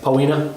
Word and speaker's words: Poena: Is it like Poena? Poena. Poena? I didn't know if it's like a. It's actually Poena.